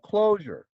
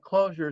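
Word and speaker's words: Clojure: j came from and closure is really a pun on the word closure like as in close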